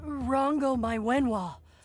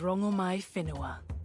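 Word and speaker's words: Rongomaiwhenua: Goddess Rango Mywen, what do I call you? My name alone will suffice. My name is Rango My Finoa. Oh, we've been mispronouncing you the whole time.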